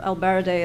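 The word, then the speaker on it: ElBaradei: latest one that came out was by muhammad al-baraday or albarade as people pronounce his name and he has a very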